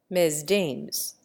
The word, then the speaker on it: Mesdames: And in the same way, Mesdames becomes Mesdames, with the first syllable rhyming with says, and the second, which bears the accent, with games.